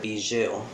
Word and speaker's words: Bijou: Well, actually, first I want to clarify, my pet's name is Bijou. Okay. That's how you pronounce it.